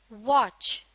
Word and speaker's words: watch: सी एच च च इस लफ्ज में लेटर टी साइलेंट है यानी इसे लिखा जाता है लेकिन पढ़ा नहीं जाता व की आवाज के साथ लेटर सी एच की आवाज च को मिला दिया जाता है तो बन जाता है वच एक मर्तबा फिर दोहराते